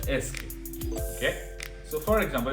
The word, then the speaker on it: est-ce: Est-ce, like actually it is pronounced as est-ce.